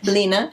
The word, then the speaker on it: Line: Is that how you say it? Lena. Lena? Line, that's how you spell it. Lena.